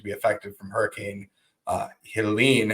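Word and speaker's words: Helene: affected from Hurricane uh Helen is how you say it not Helen Helen so absolutely so you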